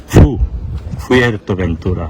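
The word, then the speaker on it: Fuerteventura: ফুerteventura উচ্চারণ হবে।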